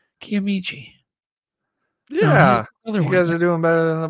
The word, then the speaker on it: Kiamichi: name it's crazy so Uncle bone says it's K kichi there you go that sounds right actually kiamichi yeah doing better than